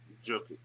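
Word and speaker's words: Jokić: But I would say for me, their two best players are going to be Barton and Jokic. That's how you pronounce his name.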